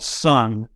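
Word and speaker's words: Sunn O))): there's a band called sung which is spelled s-u-n-hand and then an O and then three or four right brackets but it's just pronounced sun and it's basically drawn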